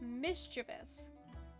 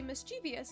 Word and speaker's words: mischievous: as it's pronounced, it's mischievous. So there's a I tend to say mischievous, but most people say mischievous and and add in an extra implied I here, which that's just